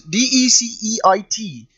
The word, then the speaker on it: Deceit: Why can't I pronounce this? D-E-C-E-I-T.